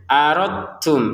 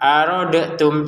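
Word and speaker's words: أردتم: Jadi cara bacanya aradum langsung ke huruf ta. Huruf dalnya karena sudah kita masukkan ke t-nya ya. Jadi jangan dibaca pantulan arodtum salah. Arodtum salah kalau seperti itu. Aradum langsung ketnya ya.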